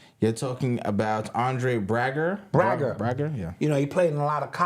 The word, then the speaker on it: Braugher: Right, Braugher is how it's pronounced.